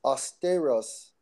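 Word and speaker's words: αὐστηρός: Austeros. Austeros. it's actually pronounced as austeros, austeros, austeros, and that comes from the Strong's G 840.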